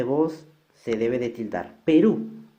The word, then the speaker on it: Perú: Perú, mayor fuerza de voz en la última sílaba y como termina en U debe de tildarse.